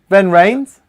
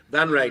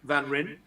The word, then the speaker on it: Van Ryn: Van Rains? Van Rain, yeah. So it says R-Y-N. Yep. Which we think would be like Van Ryn. But in South Africa, they pronounce that Van Rain.